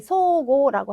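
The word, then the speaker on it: 相互: 네, 서로 상자는 기본은 소우라고 하는 발음을 기억을 하시면 되는데요. 첫 번째 나와 있는 단어는 어떻게 될까요? 네, 소고라고 하는 단어인데요.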